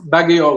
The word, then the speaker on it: Baguio: Baguio, yeah, Yes, Baguio.